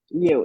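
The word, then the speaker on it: Yeo: us about him and that is um Robert yo is that how you pronounce it is it here yes absolutely correct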